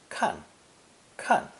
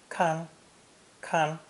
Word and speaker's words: 看: an ideogram of a hand above an eye pronounced fourth tone kan khan it means to look or see when pronounced first tone kang khan it means to watch look after or guard